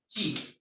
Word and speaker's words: ki: It is pronounced as chi. Chi is written ki. Written ki, but this pronounced is chi.